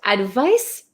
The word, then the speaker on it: advice: it's so tricky right advice has an S sound but it's spelled with a c advise has a z sound but spelled with an s h why is English